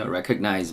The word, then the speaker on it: recognize: 그 D 발음이 굉장히 soft해서 없어지는 편입니다. So you better recog이죠. 콩이 아니고 recognize입니다. 하는 소리죠. Recognize me.